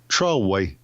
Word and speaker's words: Troy: But they don't call it Troy. It's Troway. Troy? Troway. Anyway. I don't understand throwing extra syllables in.